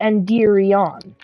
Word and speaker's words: Endirion: But then, the original race, even though it's pronounced the same in our language, is not Endirian. It's Endirion. Like that. Kind of. If you get what I'm saying. Like Endirion. Endirion is the original race.